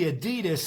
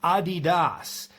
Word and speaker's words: Adidas: Actually Adidas is pronounced Adidas.